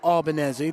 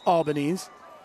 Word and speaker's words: Albanese: Albanese is the kicker, Matthew Albanese. That is how I will pronounce it going for the rest of the game. I was saying Albanese.